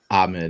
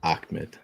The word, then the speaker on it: Ahmed: And it's Ahmed, not Akmed. Pete, he's like, I got Egyptian friends, man.